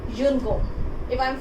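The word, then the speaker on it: une gomme: Noun pronunciation is same in singular and plural both. If I am talking about one eraser, then I will say yun gom.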